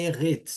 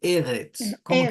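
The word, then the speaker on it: אֶרֶץ: sílaba mais forte Então eu vi que a Marina falou eretes e daí não é erres é eretes se como que eu sei por causa dessa flechinha essa flechinha vai mostrar para mim que a palavra a a a primeira sílaba é a mais forte né da mesma forma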